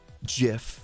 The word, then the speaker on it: GIF: somebody's like oh well the person that actually invented jiff says it's pronounced jif so it must be